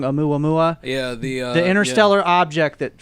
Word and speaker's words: Oumuamua: He's a professor from Harvard, and he basically stuck his neck out and said that I'm going to pronounce this wrong. Oumuamua.